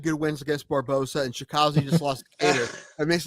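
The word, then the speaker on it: Chikadze: I can't spell it, but Chikazi.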